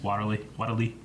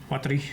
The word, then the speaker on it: Watari: I get made fun of for not being able to pronounce Waterly. Watari.